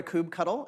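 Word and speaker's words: kubectl: HUD cuddle similar to Kubb cuddle it's pronounced cuddle if you say it any other way you're incorrect and what this is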